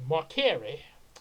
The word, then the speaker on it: Mercari: So anyway, Marcari, that's the way it's pronounced according to what I looked up, Mercari or Mercari.